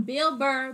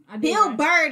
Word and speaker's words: Bill Burr: we doing we're doing bill burr big bird plastic surgery and lotion i said it right so don't bill bird this time guys that's it right